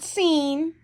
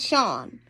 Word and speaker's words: Sean: It's not seen. Don't say it's not seen. It's Sean.